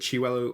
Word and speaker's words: Chiwetel: Do you know how to pronounce it? Chiwetel. Oh, Chiwetel Ejiofor.